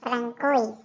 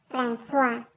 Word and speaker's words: François: No se pronuncia Francois, coño. Se dice François.